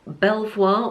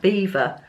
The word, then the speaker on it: Belvoir: video previously I think is the Belvoir or do you pronounce that beaver I've got a feeling you've pronounced that beaver let me know in